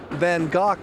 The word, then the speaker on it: van Gogh: needs a little explanation in the u.s. we call in Vincent van Gogh but in England they say van gock when they talk about the artist no matter how you